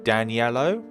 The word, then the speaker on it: Daniello: we'll save and then your pronunciation is getting better of my name daniello like i say it like uh the color yellow for some other reason